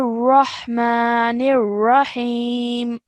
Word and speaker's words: الرحمن الرحيم: Okay, and also these two ra's over here, they would both be thick ra's. So you make sure that you are making a thick and broad sound. So Bismillahir Rahmanir Rahim.